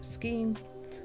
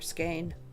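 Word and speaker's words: skein: Like I said last time, this shape of yarn is called skine or skine or ske. There's like 10 different ways to pronounce it.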